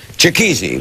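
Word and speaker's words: Chikezie: Joining us now, Christy Lee Cook, an American Idol finalist, as is Ramil Maloubi, and I'll pronounce it right, Chikizi, the man with one name.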